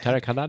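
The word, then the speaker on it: Tareq Hadhad: Yep, Tarek Haddad.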